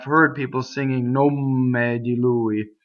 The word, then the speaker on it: lui: It's not nome di lui, double L, right? Single L. So di lui. So lui has more of the U than the E.